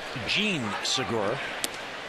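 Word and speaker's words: Jean Segura: It's actually pronounced Jean Sigura.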